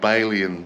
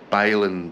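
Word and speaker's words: Bailan: Resort at Balin Bay I pronounced it ban Bay before but it's actually Balin Bay see you there guys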